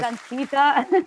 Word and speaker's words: Ankita: You still got my name wrong. My name is Ankita.